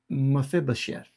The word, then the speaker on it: Mephibosheth: And Can you pronounce his name again? Mephibosheth.